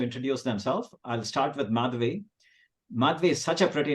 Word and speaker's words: Madhavi: So, Madhavi is a pretty name, and the way I like to tell people to pronounce if they have difficulty pronouncing is it has math in my name. So it's Madhavi, like Gary V.